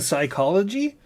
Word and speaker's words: psychology: You don't pronounce the P in psychology.